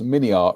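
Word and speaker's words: MiniArt: funny you say that Jim alot says mini art rhymes with multiart yeah um but um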